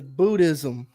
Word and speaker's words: Buddhism: The only silent letter in there is H. Everything else you can pronounce and hear when you say it.